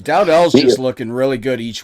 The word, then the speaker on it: Dowdell: But how do you pronounce the one kid's name with the D, the starter? Dante Dowdell. Dowdell.